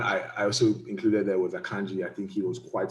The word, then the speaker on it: Akanji: Pronounced in Nigerian way. Exactly. They say Akanji.